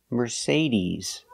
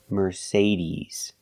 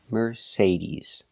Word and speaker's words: Mercedes: e like green beans we say Mercedes Mercedes the final sound is not s like Star it's Z like zebra Mercedes Merc Mercedes put the stress on the second syllable Mercedes remember it's not Mercedes it's Mercedes use a long e sound at the end ease ease Mercedes example